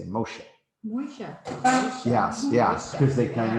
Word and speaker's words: Moshe: is kind of interesting hebrew you also kind of pronounce moses is different his name is actually moshe moshes which if you know